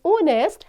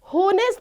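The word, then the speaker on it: honest: word होता है ऑनेस्ट तो यहां पर जो एच दिया गया है वह साइलेंट होता है उसकी साउंड नहीं आती ओके तो हम इसको क्या पढ़ते हैं ऑनेस्ट नेस्ट नहीं बोला जाता स्टूडेंट्स इसको बोला जाता है ऑनेस्ट सो एच साइलेंट है दैट्ची पावर में क्या-क्या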